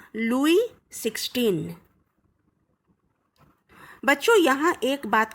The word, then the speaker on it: Louis: France का राजा था लुई 16। बच्चों, यहाँ एक बात का खास ध्यान रखना, इसको गलती से भी लुईस 16 नहीं बोलोगे। क्या बोलोगे? लुई 16।